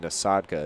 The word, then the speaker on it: Nasadka: I'm hearing over the PA Nasadka is the proper pronunciation of that last name.